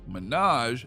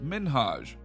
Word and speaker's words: Minhaj: was though is that ellen was saying his name is minaj instead of minhaj not cool things got